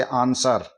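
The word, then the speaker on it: answer: ए एस ए एन एस डब्लू ई आर यहां एस के बाद में डब्लू आ रहा है तो हम डब्लू को साइलेंट करते हुए बाकी के अक्षरों की ध्वनि लेंगे आंसर इसका शुद्ध उच्चारण हो गया आंसर डब्लू साइलेंट हो गया इसमें इसी तरह एस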